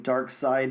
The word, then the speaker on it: Darkseid: a dimension built on dark side energy. Uh-oh. Even though it's spelled like Darkseid.